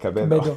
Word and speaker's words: Cabedo: and KB2 in Spanish, Oh, okay. it's pronounced like Cabedo.